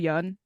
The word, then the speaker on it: Yan: to shout out gisto Yan which I have been told that it's pronounced the young rhymes with sun so yeah for folks